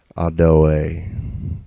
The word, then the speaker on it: Ado: You start, you got your word, say your word is Ado, okay, which is pronounced in speaking, if you're speaking it in using it, Adoe, because the absent character phonetic is added to that.